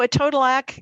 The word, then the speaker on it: etodolac: united states you know a total act rhymes with ed podillac i always say um a total act sorry that's the only